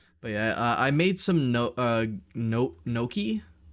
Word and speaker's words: gnocchi: But yeah, I made some gnocchi. It's spelled gnocchi, but it's pronounced something completely different.